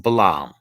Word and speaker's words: Balam: The Mayan priestly class was called Balam, pronounced Balam, or an R sound existed in Mayan. It would have been Brahm.